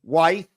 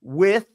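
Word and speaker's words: Wythe: And when I got there, I pronounced them wife and smite, but they pronounced them with and smith.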